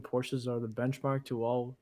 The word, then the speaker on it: Porsche: i don't know yeah i don't care what you say it's a two-syllable word in my opinion porsches are the benchmark to